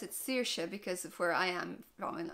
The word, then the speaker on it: Saoirse: you probably heard it a few times that's Saoirse which means freedom and I pronounce it Saoirse because of where I am in Ireland that's